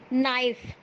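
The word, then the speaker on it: knife: नाइफ, नाइफ में भी पहला लेटर के होता है जो साइलेंट रहता है, के एन आई एफ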